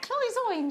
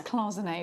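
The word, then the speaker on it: cloisonné: closing a club zoin is that cloisoine gemma no it's closing a darling uh so your closing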